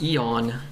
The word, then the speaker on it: Aeon: It's Eon. Aeons? Eons? The A is silent?